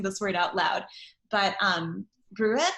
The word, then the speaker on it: Brujex: word out loud, but Brujex, so it's like brujas and brujos, basically a version on the internet, they translated it to witch or sorcerer, but Brujex is the gender neutral version of that.